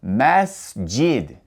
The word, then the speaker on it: masjid: The S has no vowel sound coming after it. After pronouncing the S, you go straight to the J. Masjid.